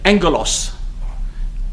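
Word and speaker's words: ἄγγελος: A g g e l o s Double g in Greek is pronounced enya, like ng in English. So they're angelos.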